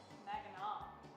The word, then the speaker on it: Mackinac: Mackinac. That's how it's pronounced.